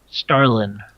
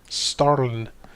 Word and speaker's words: Starlin: is brother sterling scarlet starlin starlin can you spell it yeah it's like tallinn but with an s oh cash is gonna